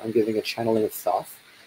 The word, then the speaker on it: Thoth: If you're watching this live, then tomorrow I'm giving a channeling of Thoth, or Tot in the traditional Egyptian pronunciation.